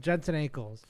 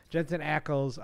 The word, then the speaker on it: Jensen Ackles: Alan richson or whoever said on our fan Jensen ankles or Eckles I keep saying ankles every time I say his name Jensen Ackles um something like that like it that's what